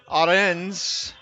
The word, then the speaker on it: Arens: So thank you for the correction. I don't have a pronunciation guide, but it is Arens.